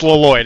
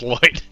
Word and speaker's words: Lloyd: I'm an idiot oh it's not L it's not pronounced lyd it's pronounced Lloyd ly was a joke